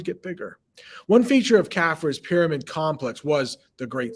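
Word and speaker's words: Khafre: for khufu's son uh apparently kephra kafra that's how you say that kafra lost my place right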